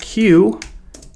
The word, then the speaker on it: queue: So we'll create a variable and call it queue, and that's how you spell queue. It's Q-U-E-U-E. It's not pronounced Q-E-U-E, although that is what my wife